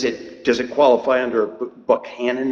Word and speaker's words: Buchanan: Um, is does it does it qualify under Buck Hannon? Is that how you pronounce it? I would say Buchanan.